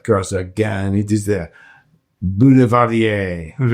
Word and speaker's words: boulevardier: because you're going to give us a little pronounce the cocktail in French. But of course, again, it is the bulardier. Very, very good. Yeah. Or bulardier.